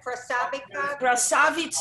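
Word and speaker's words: красавица: We had a Russian neighbor who would call all the girls Krasavitskas. Am I saying it right, Anna? Krasavitsa, it's beauty.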